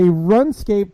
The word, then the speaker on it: RuneScape: So Run Escape. RuneScape. You say RuneScape, Somebody I typed say it wrong, RuneScape.